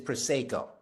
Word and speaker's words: Prosecco: I didn't say Prosecco, I said Prosecco. If you're in Italy and you meet an Italian winemaker and you call it Prosecco, he will ask you to leave. So the proper pronunciation is Prosecco.